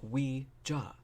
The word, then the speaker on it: Ouija: He's like, Ouija. You know, that's how you pronounce it. Like I said, he's like super douchey about it. Just fucking French, yes. And then, Ouija. Yeah, so it should be Ouija, actually, technically.